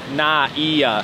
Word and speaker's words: NAIA: Terminal 3 NAA na NAA someone um people commenting how to properly pronounce it we say like NAA we like blend it but it's like na NAA yeah yes Koda